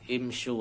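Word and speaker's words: امشوا: Hasilnya imshi tapi dibaca imsyu untuk menyesuaikan dengan wawu jamaah.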